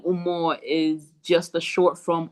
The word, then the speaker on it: Umoh: You tell tell us tell me what is your name and what does it umo umo. Yes, that's that's pronunciation.